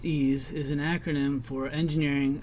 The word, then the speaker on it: EES: EES, which is pronounced EASE, is an acronym for Engineering Equation Solver. EASE is an engineering tool, and therefore the variables that you use in EASE typically represent physical quantities, and these are often measured quantities.